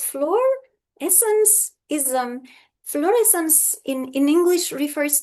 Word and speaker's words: Florescencism: Many people sometimes find it a bit difficult to pronounce. So, it's fluorescencism.